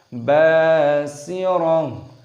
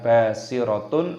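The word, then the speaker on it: بصيرة: Basirah, basirah. Di sini tak marbutohnya ketika berhenti waqaf maka dimatikan, diganti menjadi hak, bukan basiratun atau basirat. Nah, itu perlu diperhatikan para pemula, para lansia, jangan sampai terjadi kesalahan di situ.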